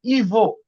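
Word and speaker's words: его: ইভো। এটার উচ্চারণ হবে। ইভ ইভ ইভো।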